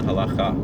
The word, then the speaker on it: halacha: Not a political one, but a legal definition from, our canon law, which we call halacha, or the Sephardic pronunciation halacha.